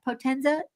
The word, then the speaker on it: Potenza: Potenza?